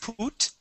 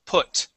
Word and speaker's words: put: word put okay so instead of using a long u and saying put okay this is p put all right yeah let